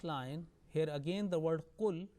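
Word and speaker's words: قُلْ: Okay, the last line, here again the word qul, lam, sakin, followed by ya, yajma'u, and lam is not dropped, and it is properly manifested, is clearly pronounced, is idhar, not is idgham, it's not merged. So qul yajma'u baynana rabbuna.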